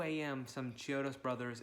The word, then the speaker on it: Chiodo: And I think that at 2 a.m., some Chiodos brothers, it's Chiodos, right? I always mispronounce it every single time.